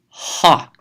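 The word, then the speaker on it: ὁ: one in red, is ha. Notice it's an omicron with a rough breathing over it. That means there's going to be an H sound at the beginning.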